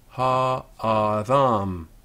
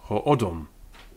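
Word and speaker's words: הָאָדָם: Except when such a guttural is an aleph, and then they both have the comets, ha adam, ha adam, or in modern Hebrew ha adam, and in the Ashkenazic pronunciation, ho'odom.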